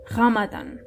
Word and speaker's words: Ramadan: Ramadan. So you have to roll your R.